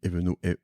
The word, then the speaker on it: Eveno: Ouais, donc, j'écris Eveno, comme ça se prononce, E-V-E-N-O.